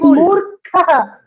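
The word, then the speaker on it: मूर्खः: It is Moorkaha. The Kha is for Mahaprana. Yeah, Mahaprana.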